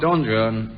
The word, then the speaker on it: Don Juan: Don Juan. Yes, it's Don Jun and um Byron the